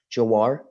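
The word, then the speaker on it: Jhawar: We'll start with Mr. Jawar. Is that how you pronounce it? Yes, thank you.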